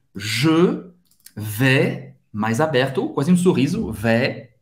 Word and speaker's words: vais: Je vais, mais aberto, quase sorriso. Vais, je vais. Você não vai pronunciar o S no final.